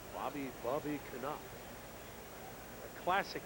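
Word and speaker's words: Knoop: K-N, Knight, you know, just the silent K. And no. The second baseman is Knop.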